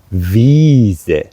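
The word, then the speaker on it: Wiese: e i and e and there you have to pronounce it in a long with a long breath ah so you say Z or in this case the V Vis Visa is The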